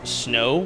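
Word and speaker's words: Snoh: content creator I believe pronounced snow but it's s n o h and they're all extremely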